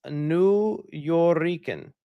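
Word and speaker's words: Nuyorican: By the way, it's pronounced New Yorican.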